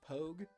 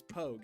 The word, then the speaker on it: pog: that right yes yeah it's pronounced pogue it's pogue is in pogo stick i get it you